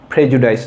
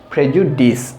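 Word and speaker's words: prejudice: তো আপনারা প্রনাউন্স করবেন কি এটা প্রেজুডাইস, আসলে এটার উচ্চারণটা প্রেজুডাইস না, এটা হচ্ছে প্রেজুডিস, এখানে ডিআইসি, এটা ডাইস না, এটা হবে ডিস।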